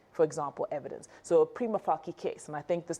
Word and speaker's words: prima facie: So in Latin, a C is always pronounced like a K. Facie. So it's not facie, it's facie.